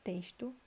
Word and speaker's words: texto: Já na palavra texto, o X tem som de S, então é amarelo também.